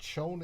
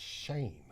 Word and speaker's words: Schoen: And I also heard that it's not Schoen, it's Shane is the proper pronunciation.